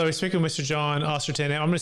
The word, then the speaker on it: Ostenson: John Ostenson, I'm going to spell it for you because it does sound like Austin, Texas.